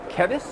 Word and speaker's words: Kevis: This is Kevis, an artist with Twisted Wire Art. I did say that right. That wasn't mispronounced.